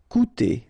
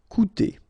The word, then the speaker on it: coûter: Okay, keep in mind that even if you've got this accent circonflexe on the top of U, it doesn't change the pronunciation, so it doesn't change this combination of two vowels here, so it will be OU, okay?